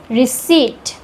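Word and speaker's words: receipt: Psychology next यहां पर पी एंड टी साथ में है तो पी साइलेंट होगा। इसको पढ़ेंगे रिसीप्ट।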